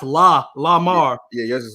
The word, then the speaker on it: Lamar: a spell l-e-m-a-r l-a like how it's pronounced la la mar yeah yours is like